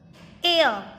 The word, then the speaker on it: heir: He is dash air. आप इसको क्या pronounce करोगे? Air. Then H is silent here.